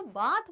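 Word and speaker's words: bath: सा अच्छे तरीके से, करेक्ट प्रोनाउंसिएशन इज बेथ, तो बात बोलना इज not wrong but appropriate का pronunciation for this word is बेथ, right?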